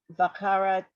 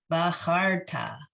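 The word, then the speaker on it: בחרת: Bakarata. Yes, except the resh doesn't, that shva is going to be silent. It's the end of the syllable. So it's just bacharta.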